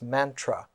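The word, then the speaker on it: manthra: form of the poem the ancient word in avestic was mantra m-a-n-t-h-r-a and the sanskrit pronunciation of that is mantra so a mantra was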